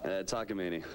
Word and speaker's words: Takamine: You're playing how do you pronounce that guitar? Takamine.